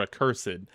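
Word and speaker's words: accursed: Is it a cursed or a cursed? I always like to add that extra syllable just because it makes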